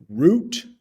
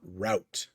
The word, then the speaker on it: route: States you were in you might hear two pronunciations so root or route same word just different pronunciation the path that must